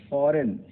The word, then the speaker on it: foreign: Silent G एन वर्ण के पहले अगर आप फॉरेन, FOREIGN, फॉरेन हो गया तो फॉरेन में जी साइलेंट है, विदेशी।